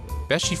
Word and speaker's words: Beachy: I think it's pronounced Beach. Maybe it's Besh. Welcome to Beshi Furniture. So that's how you say it.